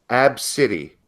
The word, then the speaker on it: Abcde: this is the name ABCDE e Redford pronounced AB City AB City okay a